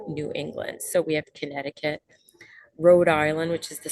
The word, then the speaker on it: Connecticut: we've got conne concut where the C is silent you do not say Connecticut but you say Connecticut Maine Massachusetts New Hampshire